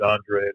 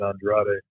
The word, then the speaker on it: Andrade: Oh, no, I was just saying, I think he pronounces it Andre, but some fighters that were from Brazil in the past have pronounced it Andrade.